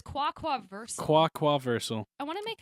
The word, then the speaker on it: quaquaversal: Okay, so it's quaquaversal. Quaquaversal. I want to make a joke about the fact that it sounds like ducks, like quaquaversal, like Do- universal duck language or Do something you want like me to that.